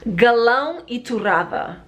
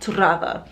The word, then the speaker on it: Galão e Torrada: Galão e Torrada. Okay, we roll our R's a lot. Torrada.